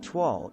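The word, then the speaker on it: toile: from 18th century france tuoll pronounced tuall is a monochromatic design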